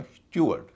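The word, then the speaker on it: steward: STEW ARD, इसे कई लोग स्टीवर्ड कहते हैं, ठीक, इसका उच्चारण होगा स्ट्यूअर्ड। STEW से स्ट्यू, ARD से अर्ड, स्ट्यूअर्ड।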